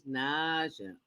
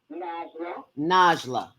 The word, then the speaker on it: Najlaa: And that was Naja. Oh, am I pronouncing her name right, Falake? Najla. NAJLAA. Right, Najla.